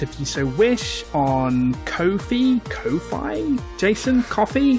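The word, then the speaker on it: Ko-fi: you so wish on Kofi Kofi Jason coffee how do you pronounce that coffee right yeah it's coffee yeah uh yeah you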